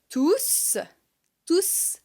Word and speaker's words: tous: et je les ai tous vus partir. Ils sont partis et je les ai tous vus partir. On prononce le S de tous car ici c'est un pronom. Il n'est pas suivi d'un nom.